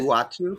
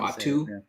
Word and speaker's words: Uatu: whose name I can never remember how to pronounce. Is it Uatu? I don't know. Uatu.